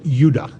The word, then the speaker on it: Judah: were called benjamin and judah more properly pronounced yudah because we didn't get the harder sound to the j until about 200 years ago so this is what